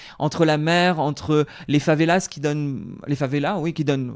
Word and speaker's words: favelas: Rio, je pense que c'est l'une des plus belles villes au monde, entre la mer, entre les favelas qui donnent, on va pas prononcer le S, mais qui donnent beaucoup